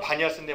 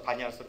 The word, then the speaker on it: 바니아스: 자, 이 도시에 가보면 뿐만 아니라 무슨 일이 있냐면 현대 지명으로는 바니아스인데 뭐 이거는 중요하지 않고요. 아랍식으로 피 발음을 못해서 바니아스로 불린다.